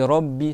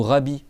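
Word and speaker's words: رَبِّ: Et là il y a de b tu dis robbi c'est pas c'est pas alhamdillah alamin ou rabi. D'accord. C'est Robbi. D'accord. R. Alors le R comme il est en fatigue la le a il se prononce. D'accord. Donc je dis Robbi.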